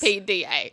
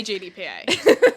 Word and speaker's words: GPDA: GPDA. GDPA. Grand Prix Drivers. Yes. GPDA. I always say GDPA. I just realized that I've been saying it wrong forever.